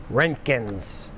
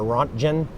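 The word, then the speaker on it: röntgen: you can spread the spread the love there renkins the rentkin okay if you watch a video and the guy calls it a rontgen or rent wren jin or anything like that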